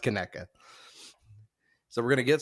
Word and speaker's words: Conecuh: So it looks like Conecuh, pronounced Conecuh.